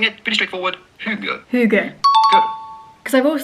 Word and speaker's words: hygge: We are looking at how to pronounce in English or American this word spelled H-Y-G-G-E. How do you go about pronouncing it? Pretty straightforward. Hygge.